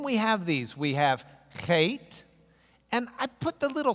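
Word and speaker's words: חית: So it's kind of like a CH in the sense of Bach, not in the sense of Charlie, okay? So it's the CH like in Bach or something. Chet.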